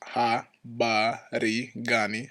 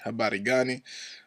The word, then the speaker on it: Habari Gani: This R is kind of pronounced like a Spanish R, so again, this is Habari Gani. Habari Gani.